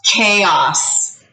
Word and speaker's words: chaos: This is pronounced chaos, like k.